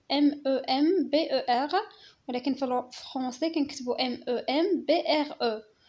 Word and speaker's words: membre: membre هو طرف معادلة، هنايا ماشي member، هذيك member في لونجلي وكنكتبو MEMBER، ولكن في الفرنسي كنكتبو MEMBRE وكنطق membre. membre ماشي member كيف قلنا هذيك اونجلي.